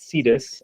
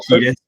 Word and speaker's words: Cetus: Deneb Kaitos, which is in the constellation, I pronounce it Cetus, but you can I say Cetus, but doesn't matter.